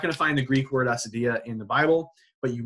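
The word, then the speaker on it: acedia: a little discussion on a Cydia or Acadia in Greek II would be Acadia I think we would pronounce it as a Cydia in English this is on page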